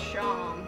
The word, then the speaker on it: Seam: The name seems pronounced Shawm. I'm not pronouncing it like that.